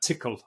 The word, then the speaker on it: Tcl: sneaking somewhere um and this is uh tickle as it's pronounced Eric yeah um so yeah